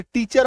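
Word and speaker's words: teacher: जैसे कि यह देखो जैसे टीचर ऑफ इंग्लिश आपको बोलना है। टीचर ऑफ इंग्लिश तो ऑफ एक शब्द है इंग्लिश।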